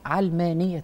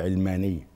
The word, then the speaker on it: علمانية: كلمة هي وبينطقوها غلط، يقولوا علمانية، هي مش علمانية، علمانية. هي علمانية من العالم، من الدنيا، من الدنيا.